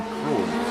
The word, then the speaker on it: Kroon: Double O in Dutch language is pronounced, or we would pronounce it oo, but in Dutch it's O, so it's like two O's stuck together, if you like. So it's Brian Kroon.